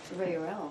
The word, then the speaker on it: Reuel: Reuel was one. Say that again. Reuel. See, hear what she's saying? Reuel. Yeah. Reuel. So this is what I think she's saying. Reuel.